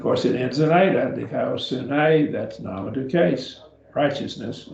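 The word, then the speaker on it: δικαιοσύνη: Just break it up into the syllables and pronounce them slowly. And then speed yourself up and you'll get it. Dikaiosune. Dikaiosune. And raise it up over the upsilon because that's where the accent is.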